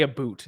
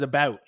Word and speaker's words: about: First of all, Canadians don't actually say a boot. That's one of the biggest myths about Canada. And maybe like out west they say a boot. How I would pronounce it is about, which is not a boot.